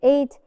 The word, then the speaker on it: eight: how do we write how do we write eight eight G we did not hear gong not